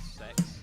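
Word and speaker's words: CEX: Yeah, there's a store in the game called Sex, and it's spelled C-E-X, and they sell second-hand, like, Yeah, it's like, got a phone.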